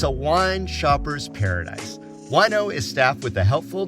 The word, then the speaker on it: Wineaux: Wino, that's spelled Wineaux, is the latest rage for wine lovers and the vino curious around the valley.